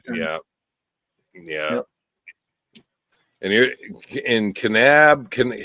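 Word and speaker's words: Kanab: And you're in Canab. Can How do you pronounce that? Canab, Utah.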